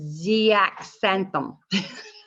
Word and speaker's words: zeaxanthin: Ningxia contains zeaxanthin, and I hope I said that right. Xanthan. The Z-A-X-A-N, the long word is xanthan, because it says zeaxanthin. Oh, zeaxanthin. Zeaxanthin. The X is Z.